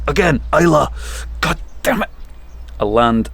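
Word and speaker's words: Islay: But it's a Bruichladi, rocks the Rins of Eiley. Eiley! Again! Isla! God damn it! A land apart. Yeah. An unpeated Isla.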